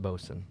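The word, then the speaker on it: boatswain: so we got engineer bosen I don't know what that is it's actually spelled boat Swain but it's pronounced bosen oh they're like like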